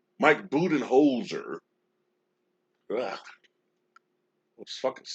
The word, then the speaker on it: Budenholzer: any uh you know the criticism but mike budenholder mike budenholzer ah those syllables should be on the hot seat everybody